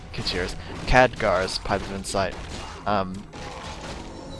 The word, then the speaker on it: Khadgar: Kajir's Pipe of Insight, okay, or not Kajir's, Khadgar's Pipe of Insight. Well, I've always pronounced it Kajir, but ever since I've watched the movie, I was like, oh wait, that's Khadgar.